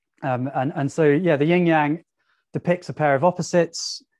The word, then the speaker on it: yang: And so, yeah, the yin yang depicts a pair of opposites. The white is yang. And if you think about your white fang, rhymes with yang, you now know that white is yang, and then yin is black.